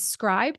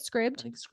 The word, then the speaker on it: Scribd: is something to consider and then there is scribe does how you say it Scribd Scribd I have never used Scribd what's your